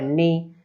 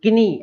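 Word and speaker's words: knee: हमारे, घुटना, है ना, तो नी, किनी ऐसा नहीं बोलना है, किनी। अब लोगों को मालूम नहीं होता है कि साइलेंट हो रहा है, क्यों हो रहा है ना, तो वो डायरेक्ट बोल देते हैं किनी, नहीं, केवल नी।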